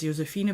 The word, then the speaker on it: Josefine: i in my head i always read it as josefina because that's how my name is actually pronounced and the exciting thing